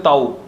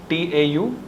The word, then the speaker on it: tau: क्या प्रोनाउंस करते हैं बच्चों इसको, कई बोलते हैं ताऊ, ताऊ नहीं, TAU, tau।